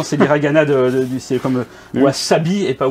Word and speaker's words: wasabi: Sauf que le S en japonais se prononce S.